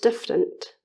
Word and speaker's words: different: regular words for example in the word different which has simple sound letter correspondences we drop the middle a sound to match the pronunciation differ to different another example is the